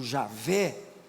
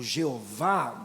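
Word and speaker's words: Yahweh: O que nós traduzimos aqui como a pronúncia aproximada seria Yahué. Alguns traduzem por Javé ou Jeová, bem portuguesado, mas nós não temos mais a pronúncia de Deus.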